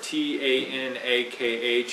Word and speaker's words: Tanakh: next slide there's an acronym t-a-n-a-k or k t-a-n-a-k-h it's spelled either way the word is tanakh now